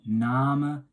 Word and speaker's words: Name: Now you can see, obviously it's spelled the same as name in English, but we're saying Name, pronouncing the E, and the A is kind of like an R sound.